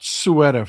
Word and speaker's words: Ceuta: Let's talk about Ceuta for a second. Ceuta, pardon me. I said Ceuta. It's actually pronounced Ceuta if you're a little bit bolder,